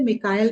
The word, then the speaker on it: मिकाइल: N presentation आर्केंजेल मिकाइल उसे Michael भी कहते हैं मिकाइल भी कहते हैं एक्चुअली उनका मिकाइल उच्चारण ठीक है लेट्स माइकल कहा